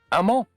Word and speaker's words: amant: Amant. It means lover. Yeah. put an E on the end and pronounce the T if you want it to be feminine.